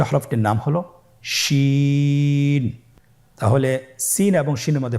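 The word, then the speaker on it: شين: শিন। আপনারা আমার সাথে বলুন, শিন। আপনার ঠোঁটের অবস্থান কীরূপ হবে আপনারা লক্ষ্য করুন, শিন। আবার বলুন, শিন।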